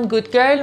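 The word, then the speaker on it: Good Girl: عطر بعدی این عطر پرولین رع ایتالیا اینجوری تلفظش می‌کنن گود گرل مدل اینجوری اکلیلیشه که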